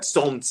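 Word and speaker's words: солнце: I think the only phonetics we ever learned in Russian was that solnce is spelled with a. It's spelled with an L, but you don't pronounce it, for example, and that malako has a and o.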